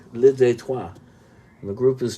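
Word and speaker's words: Le Détroit: of the album is li detroit which means the border spelled like detroit li detroit and the group is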